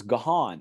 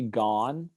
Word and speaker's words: Gaughan: So it's it's Gaelic, I think. So it's Gahan is actually how you're supposed to pronounce it.